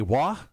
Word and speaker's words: Roy: Roy, or as our Canadian friends would say, Wah, thank you so much for coming in.